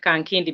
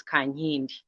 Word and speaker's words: Kankindi: khan hindi you pronounce it kang kindy because that is how it is written but it actually is kanye i am an actress